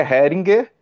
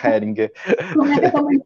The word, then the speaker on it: Heringer: certinho eu falei certo e pronúncia é difícil é Hair Anger para mim é Hair Depende do lugar do ponto de vista que você vê mas é Heringer Fala aí então a